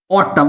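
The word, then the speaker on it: autumn: देखिए इसे सब पता नहीं क्या पड़ता है इसे, लेकिन रियल प्रोनाउंसिएशन क्या है, ऑटम।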